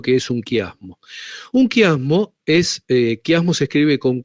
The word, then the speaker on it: quiasmo: Un kiasmo es kiasmo se escribe con q u i a s m o.